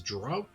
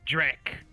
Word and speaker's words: Drek: I believe he introduced you as Dro. No, it's Drek.